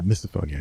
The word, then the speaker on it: misophonia: Yeah, misophonia.